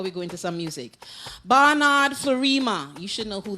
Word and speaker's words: Barnard: so I you know his name how you said it Bernard no it's Barnard b e r b